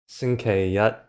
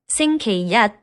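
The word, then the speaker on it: 星期一: So, on the left, we have xīngqīrì versus on the right xīngqīyī And again, with the Google voice we have Sunday. xīngqīrì versus Monday. xīngqīyī And then again, I'm just going to play them one after another.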